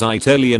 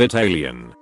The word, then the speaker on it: Italian: Mother-in-law always says Italian instead of Italian. When someone pronounces caramel as caramel, there is an A in that word.